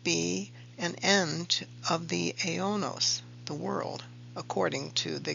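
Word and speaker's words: αἰῶνος: Looking more closely at that Greek word, translated in the King James as world, it is pronounced aionos.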